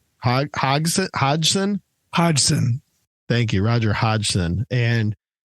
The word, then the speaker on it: Hodgson: Hodgson. Hodgson? Hodgson.